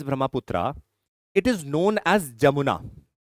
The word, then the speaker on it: Jamuna: Once Tista joins Brahmaputra, it is known as Jamuna. NCERT also mentions an alternative word by the base of pronunciation as Yamuna also.